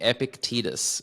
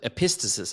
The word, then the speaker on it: Epictetus: I always say Epictetus, but I think your pronunciation sounds more correct. Yeah, but I think actually, the hard C is like a thing that they used to use. So I think yours actually, pick would be what they would have used more likely.